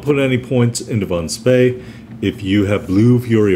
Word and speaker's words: Spee: opinion that's right we're talking about Maximilian Bond speed or spay depending on if you want to pronounce it correctly or not and we're talking